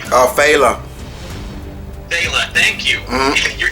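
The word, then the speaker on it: Phyla: But the thing about Farla, or Tharla, I can never pronounce her name. Phala.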